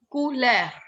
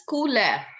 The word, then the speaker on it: couleur: Now, how it is pronounced? Couleur. It's couleur.